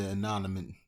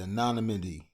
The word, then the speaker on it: anonymity: spoke on the conditions of the anonymous the anonymity the anonymity yes that's how you say it it isn't clear if